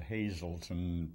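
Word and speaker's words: Hazleton: Uh, I was born in a town called Hazelton, Pennsylvania. That's spelled H A Z L E T O N.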